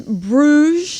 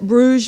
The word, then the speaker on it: Bruges: was really neat next slide please this is Bruges that's how you say it Bruges Belgium it is the most beautiful city we